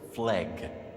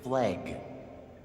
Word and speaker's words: Fleg: Genuinely, the worst acronym I've ever heard was Fleg. Say it aloud. It's like the ugliest series of letters possible. And they didn't take the easy win with f l eg. They actively pronounced it flag.